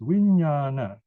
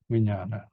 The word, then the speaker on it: vijnana: And what bhikshus is called consciousness, vijnana. Here is another interesting Pali word. You have vi, pronounced as vi, that's the prefix.